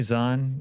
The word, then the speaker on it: Zan: Hey, Zan. Yeah, it did sound like I called you. Your name rhymes with John.